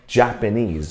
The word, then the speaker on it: Japanese: 可是我们英文是 Japan, Japan and Japanese, OK。